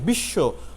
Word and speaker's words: বিশ্ব: সেক্ষেত্রে একটু লক্ষ্য করুন, বিশ্ব বানান, আমরা লিখছি বয়রসিকার বি তালে শয়ে ব, কিন্তু উচ্চারণটা কি করছে বিশ্ব, বয়রসিকার বি শয় করে শো, বিশ্ব।